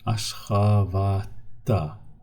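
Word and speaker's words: Aşgabatda: I do not say men Ashgabat'da yaşayarım. No. We need to read it more smoothly. Ashgabat'ta.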